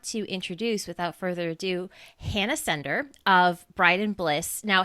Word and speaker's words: Hanna Sender: Is it Hannah Sender? Am I pronouncing it right?